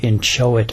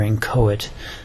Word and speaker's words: inchoate: There's just this kind of, I think the word is pronounced either inchoate or inchoate thought, not fully formed thought